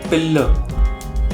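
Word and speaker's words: Pillai: आगे जो उनका नाम था दैट इज सुंदरी पिल्ले, तो उसमें जो पिल्ले की प्रोनाउंसिएशन थी that was suppose to बी पिल्लर।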